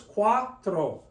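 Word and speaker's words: cuatro: we call a dong we don't say quatro it's qua quatro two syllables quatro sinko sinko the I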